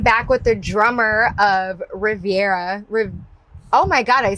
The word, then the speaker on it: Reverya: I am back with the drummer of Reverya.